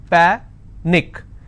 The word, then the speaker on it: panic: so let's break this Panic is PA Nick which means I will stress on PA and it's pronounced at panic tragic tragic I will